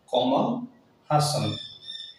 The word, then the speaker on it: কমল হাসন: হয় কমল হাসান এভাবে দক্ষিণ ভারত ব্রাহ্মণ মানুষ কামাল হাসান ফেলা অন্তত নামতে পার শ্রুতি হাসান জরি শ্রুতি